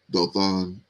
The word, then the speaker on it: Dothan: so we got two wells here, and the pronunciation Dothan there, and it's a place in northern Palestine, 12 miles from Samaria, home of Elijah there. Mm-hmm. So, yeah, this is the first place that is mentioned, Dothan.